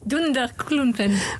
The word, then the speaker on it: Dunderklumpen: du dessin animé suédois, je vais bien le prononcer, Durdenkulpen. C'est ça. Dunderklumpen.